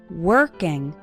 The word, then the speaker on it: working: working on your English the letter o in working has more of an R sound working working on your English